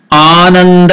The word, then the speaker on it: Ananda: So Ananda is elongated. That is Dirgha. 2 matra kalam. 2 unit of time is taken to pronounce it. Ananda. That's why it's elongated.